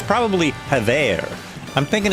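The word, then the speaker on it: Havre: was renamed, it's probably Hav. I'm thinking it's probably Hav. We always pronounced it Hav, but since it's French, Hav to decide on a new name, the town held a meeting.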